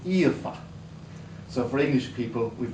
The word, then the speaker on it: Aoife: One is called Sophia, so that's easy for English people to pronounce. The other is called Aoife.